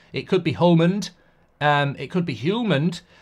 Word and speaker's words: Hjulmand: his name wrong um hullman I always say holand because I know the D is not countered I'm saying hullman it could be hullman um it could be